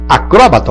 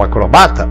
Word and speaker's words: acrobata: Acróbata ou acrobata, réptil ou reptil, projétil ou projetil. Interessante isso aí. E claro, xerox ou xerox. O dicionário aceita as duas formas.